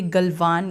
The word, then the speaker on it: गलवान: ये गलवान या गलवन, इसके अलग अलग तरह से हम प्रोनाउंस करते हैं।